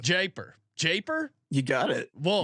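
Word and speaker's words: Jaipur: grade one uh jyper Stakes how do you pronounce Iran that's what I would have said japer japer you got it well you got it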